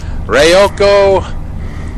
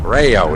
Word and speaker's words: Rayo: Rayo. Okay, Rayo, not Ryoko.